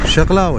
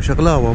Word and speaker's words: شقلاوة: شقلاوة شقلاوة مو بقلاوة، قلت لكم شقلاوة.